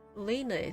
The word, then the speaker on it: Lena: Lena, that's how I pronounce it.